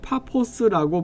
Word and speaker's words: 파포스: 바보는 오늘날 파포스라고 발음하지만 성경에는 바보라고 적혀 있습니다.